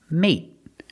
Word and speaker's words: mate: So we see the pronunciation, mate and mating. With mate, we end with a T, so it's a stop T.